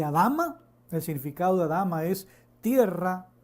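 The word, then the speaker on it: אדמה: fue creado el hombre esa palabra se pronuncia como a la dama se produce cómo se pronuncia como alhama y adama de significado drama es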